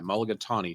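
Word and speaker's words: mulligatawny: It's actually spelled like it sounds. M u l i g a t a w n y. Mulagatani. Tawni as in the color of the soup, too.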